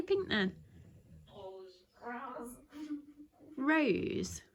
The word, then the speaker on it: rose: Right, it sounds like P to me. Peter. So she goes rose. Yeah, because you have to like make the R go longer. You have to roll your R somehow.